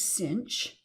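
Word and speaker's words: sinh: we just need to know the definition of cinch and kosh and that's how you pronounce these two functions this is kosh and this is cinch and the other hyperbolic functions are defined in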